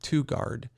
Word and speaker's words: TOGUARD: The example we found is a brand called TwoGuard. That's spelled TOGUARD.